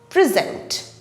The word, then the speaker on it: present: as my birthday present when it is used as a verb the stress falls on the last syllable zent present present not when this